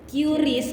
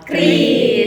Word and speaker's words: QRIS: awal-awalnya munculnya Kris ini emang banyak banget yang ngebaca tuh bacanya tuh Q Ris karena dia emang pakai Kanika jadi banyak yang salah dari situ sih tapi sebenarnya ini juga dikonfirmasi ya sama pihak adminnya itu eh pelafalan yang benar itu sebenarnya Kris guys guys bisa dicatat